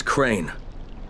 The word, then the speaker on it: Crane: No, my name's Crane. Crane? Crane rhymes with train and brain and sane and grain and rain and plane and the other kind of plane.